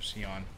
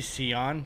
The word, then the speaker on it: Sion: That's really not that good for Sion. I mispronounce words on purpose just to like shitpost. I think somebody commented on YouTube because like I say Scion just like why not,